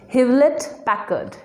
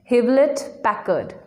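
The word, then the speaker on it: Hewlett-Packard: know the full form of hp it is hivlet packard havelit packard american company computers or laptops look at our next brand casey pronounced adobe no it's not adobe the correct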